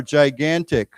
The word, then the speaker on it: gigantic: Now, just remember the first g is a j sound, the second g is a guh g sound. What once more? Gigantic.